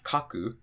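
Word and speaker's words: 書く: So for example, if we had kaku or dasu, so counting from the end, we have 1, 2, the drop is going to be after the ka.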